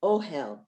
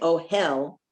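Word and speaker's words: אוהל: When you go camping, you go into an ohel, and don't say oh hell. You have to give the emphasis on the first word, ohel.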